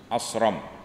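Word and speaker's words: أصرم: Seorang laki-laki bernama Asram dengan sa. Asram. Sebab kalau kita kalau ejaan Malaysia ASH dia baca dengan shin. Nah. ASH dia baca dengan shin, Asram. ASH Indonesia sad. Betul. Lain. Kalau buku Indonesia ASH dia baca dengan sad, sad.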